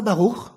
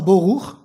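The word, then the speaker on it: ברוך: C'est pas baruch, c'est pas boruch, c'est bourich. Voilà.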